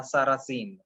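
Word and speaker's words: Sarrasine: Sarrazin, Sarrazin, La Sarrazin, okay? Because Sa and Z, they are interchangeably pronounced, so that's why S/Z, the Sarrazin.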